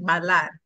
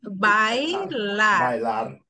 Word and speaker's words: bailar: Okay, because everybody is pronouncing that like bailar. Okay, it's bailar.